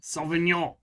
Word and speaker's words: Sauvignon: A Cabernet Sauvignon. Is that how I pronounce that? Sauvignon. Cabernet Sauvignon.